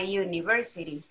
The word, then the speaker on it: university: An uncle, but a university. In the first example, the H at the beginning for hour is silent. In the second example, the U at the beginning of university sounds like U.